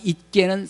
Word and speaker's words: 있게: 잊자는 받침이 시옷 하나예요. 산소망이 잊게는 쌍시옷 발음입니다.